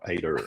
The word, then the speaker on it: Aider: um I've been told to add the r at the end for the Americans to make sure I understand that so it's a i d e r ader I just got R it to pronounce the r um otherwise it sounds like something else so um yeah the